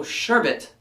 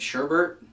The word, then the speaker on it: sherbet: It's rainbow sherbet, but I think a lot of us grew up pronouncing it sherbet.